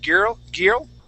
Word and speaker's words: girl: to swallow that L, we want to pronounce that L. Girl. Okay, so the letter I is silent, right? Yeah, and we're going to pronounce an sound. Instead of girl, we say girl.